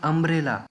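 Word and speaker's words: umbrella: अभी अम्ब्रेला ये जो वर्ड है इसका जो साउंड है अ, भले ही यहाँ पर जो स्पेलिंग है वह यू है, वो भी एक वावल है, लेकिन पढ़ते वक्त जो साउंड आ रही है वो आ रही है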